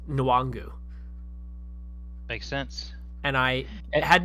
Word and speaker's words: Nwangwu: I think it's the last name is pronounced Nwangwu.